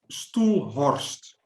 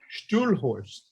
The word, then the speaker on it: Stoelhorst: Stoelhorst. Stoelhorst. Stoelhorst. Yeah. Stoelhorst. Okay. Horst, yeah. Stoelhorst.